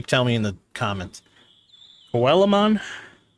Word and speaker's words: Coelamon: me in the comments coelamon sounds about right the fish Digimon did you come to see me always called him colan but like I never really like